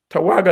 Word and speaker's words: Tawergha: Tawaga is spelled Tawergha.